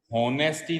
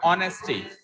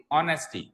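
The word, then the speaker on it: honesty: ऑनेस्टी, अच्छा सबसे पहले तो इसको होनेस्टी नहीं पढ़ेंगे, इसको होनेस्टी नहीं पढ़ेंगे। Hair H will be called as a silent letter, तो इसको ओ से पढ़ना स्टार्ट करो, ऑनेस्टी, ऑनेस्टी, ऑनेस्टी।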